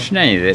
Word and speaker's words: Schneider: ¿Cómo se pronuncia el apellido primero? Schneider.